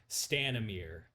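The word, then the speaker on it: Stanimir: how do you uh Matt how do you pronounce that name again stanamere s-t-a-n-i-n-i-r and the uh uh uh uh the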